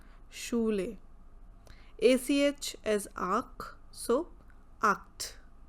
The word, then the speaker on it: Schule: SCH as again Sh, Schule, Schule.